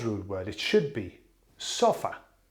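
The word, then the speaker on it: sofá: word it should be sofa the same as way as we say it in in English the sulfa yeah but no they put an accent on the a to make it s okay why just to be different as suppose this is a foreign word we'll have to make it sound our way yeah so now I'm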